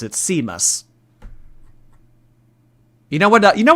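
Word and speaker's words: Seamus: okay you know what when you type out s a m u s I do know that that's pronounced Sheamus I don't know why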